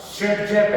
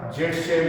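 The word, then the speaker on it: Zaitsev: जिसको बोलते हैं क्या, शेडजेप एल्कीन, शेडजेप या जेडसेव इसको बोलते हैं, ZSEIV। ठीक है, ये भी बोल देते हैं, ये प्रोनाउंस है नाम जेडसेवी, लेकिन प्रोनाउंसिएशन में शेडजेप जैसा ये प्रोनाउंस किया जाता है।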